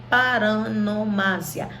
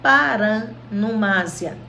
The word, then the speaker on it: paronomásia: Nós vamos ver 4 figuras hoje: aliteração, assonância, onomatopeia e paronomásia. Paronomásia ou paranomásia, tá? As duas pronúncias são corretas.